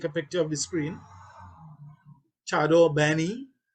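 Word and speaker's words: chadon beni: Chardon Benny, and that's how it's spelled, Chardon Benny. I hear a lot of Trinidadians say Shadow Benny, but that's all right. That's we Trinity thing.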